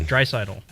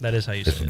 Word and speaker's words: Draisaitl: Connor McDavid and Leon Draisaitl Leon Draisaitl That's not how you say it. That is how you say it. Draisaitl You know what? Close enough.